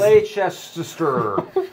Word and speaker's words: Leicester: You can only get at the store in Leicester Square, and so I have a bunch of those. How do you pronounce it, Alex? Leicester. Leicester Square. It's like Worcester remember? sauce.